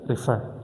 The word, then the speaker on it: refer: Now condition number 4 is stress. Again it is refer. Refer. My stress is on far, which is the final syllable.